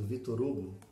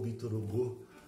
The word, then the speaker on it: Victor Hugo: O quarto livro da nossa lista é Os Miseráveis, do Victor Hugo, ou Victor Hugo, dependendo da sua pronúncia.